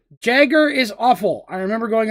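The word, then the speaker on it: Jäger: respect the letter j i will pronounce it jagger now some people say jaeger there is no y at the beginning of that and i refuse to disrespect letter j this is a fireball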